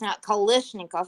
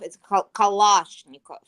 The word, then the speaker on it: Kalashnikov: Pronouncing it correctly. It's not Kalashnikov. It's Kalashnikov.